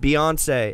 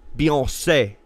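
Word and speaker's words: Beyoncé: years right she says my name is not pronounced Beyonce it's pronounced Beyonce what yep are you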